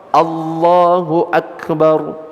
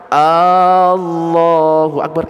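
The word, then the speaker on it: الله أكبر: itu langsung artinya beda contoh Allahu akbar a-nya panjang Allahu Akbar itu artinya beda kalau pendek Allahu akbar artinya Allah maha besar tapi kalau dipanjangkan Allahu Akbar itu artinya Apakah Allah maha besar loh kalau sampai mengubah makna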